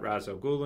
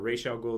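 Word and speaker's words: Ra's al Ghul: to meet Damen Wayne you've got Razo Gul in there or Rachel ghoul depending on however you want to however you want to pronounce it I don't know if one is correct and one's wrong it depends which Medium you're looking at Movies Ras the the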